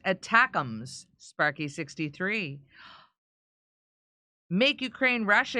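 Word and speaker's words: ATACMS: so much those missiles acronyms are pronounced attacks that's from Sparky I read it again Sparky how's it going spark attacks it's like stum attacks hey Steph we sent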